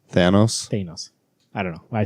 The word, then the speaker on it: Thanos: Thanos.